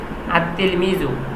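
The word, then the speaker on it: التلميذ: যেমন এখানে একটা লেখা দেওয়া আছে, উচ্চারণে হবে আত্তিল মিজু, উচ্চারণে লামটা আসবে না, কিন্তু লেখায় লামটা নিয়ে আসতে হবে।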